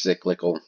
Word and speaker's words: cyclical: but there you go it's pronounced cyclical based off the word cycle spelled the same way and there we go